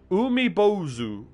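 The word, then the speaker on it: 海坊主: oh oh there it is chat among us pronounced umibozu a large and very strange looking yokai that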